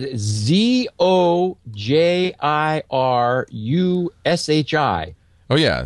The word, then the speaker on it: Zojirushi: It's I can't even pronounce it. Zojirushi. Oh yeah, Zojirushi.